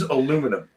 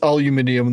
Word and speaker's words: aluminum: It is aluminum. It is aluminium, that is correct. No, it's aluminum. And you all are saying it wrong.